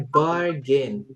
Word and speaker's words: bargain: And then next ini bacanya bargain. Bargain. Jadi A yang pertama tetap A ya, bargain.